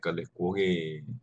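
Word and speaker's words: ᎦᎵᏉᎩ: Oh, long way, Kalikwogi, that's how you pronounce.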